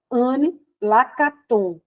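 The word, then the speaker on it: Anne Lacaton: do nome dela e como ela é francesa Eu acho que o correto é Anne lakaton certo porque a gente com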